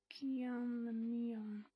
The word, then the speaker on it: Guillaume Lamillion: If it doesn't rhyme, you're not pronouncing it right. Guillaume Lamillion.